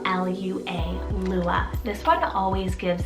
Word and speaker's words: Lua: a wonderful alternative then i have the name lua spell l u a lua this one always gives this dreamy sound